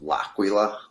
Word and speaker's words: L'Aquila: most people pronounce it i pronounce it laquila um being italian i think that's the right way to say it but uh i do